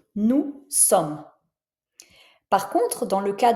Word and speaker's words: nous sommes: Donc, c'est le cas ici, nous sommes. Tu vois, je prononce pas le S de nous, nous sommes.